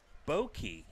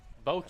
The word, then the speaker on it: Bokei: on the first pitch boki bokei that's how you say it bokei thank you to